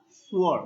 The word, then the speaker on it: swore: Here the sound is sa, not sha. Swore, but it is the cluster sound. Sa and wa.